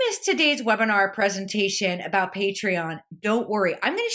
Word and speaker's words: Patreon: Or this patron, but basically it comes from the word patron.